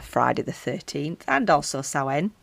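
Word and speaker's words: Samhain: And I feel like I should record something special for Friday the 13th and also Sen, not Sam Hayne, but Sen.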